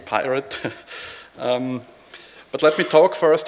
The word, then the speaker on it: pyRT: Yes, I'm talking about pyRT, pronounced correctly, pyRT, pyRT.